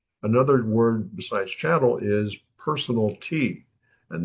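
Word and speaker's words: personalty: Another word besides channel is personal T and that's how it's pronounced personal T. If you have a electric range in your oven in your kitchen that's considered personal property. It's channel or personal T.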